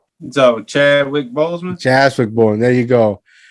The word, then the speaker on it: Chadwick Boseman: Like, I was joking earlier about, like, Wakanda, Boss, how's it pronounce his name? Boseman, fuck. Chadwick Boseman. What's his name? So Chadwick Boseman.